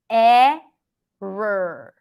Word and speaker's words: error: want to do is you pronounce a strong r and then technically it's this error eh R there is no o here okay practice it say